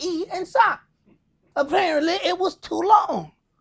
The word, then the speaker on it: Esaac: You meet somebody, I got 2 syllables. I say, hey, how you doing? My name is Esaac. It's yes, sir. What the hell was hard about E and Sock?